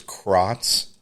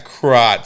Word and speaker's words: Crotts: Oh, but God damn, thank God he changed his name because the last name was Krotz. Krotz? Yeah, Krotz. So it's funny because spell that?